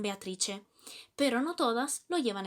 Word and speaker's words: Beatrice: Por ejemplo, la I en Beatrice.